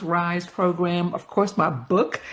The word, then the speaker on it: RISE: Conferences, retreats, workshops, events, coaching programs, project management coaching programs, youth programs, which is the Rosa's Youth Empowerment Series, pronounced RISE program.